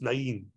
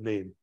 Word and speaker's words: Nain: By the way, Nain, the bus doesn't go through Nain, which I think is actually pronounced Nain.